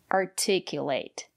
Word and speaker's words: articulate: For example, determine, participate, articulate. So remember, if the syllable after the letter T is stressed, we pronounce it as T.